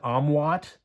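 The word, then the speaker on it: OMWOT: Benjamin Mara's Tara Salter o-m-w-o-t I like to pronounce that omwat it's one man war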